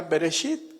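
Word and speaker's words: בראשית: Por ejemplo, Génesis en hebreo le dicen o se pronuncia beresit, que quiere decir en el principio.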